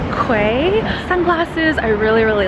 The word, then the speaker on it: Quay: I picked up a pair of, I always want to say Key, but I think it's pronounced Quay sunglasses.